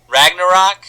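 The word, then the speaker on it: Ragnarök: Ragnarok?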